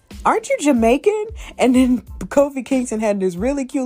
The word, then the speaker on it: Kofi: pay for him and call him coffee and i'm just like no it's kofi dad you know you keep you know mispronouncing his name and all this other